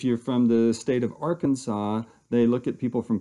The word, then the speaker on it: Arkansas: you are from Kansas you'll refer to the AR Kansas River Basin if you're from the state of Arkansas they look at people from Kansas and go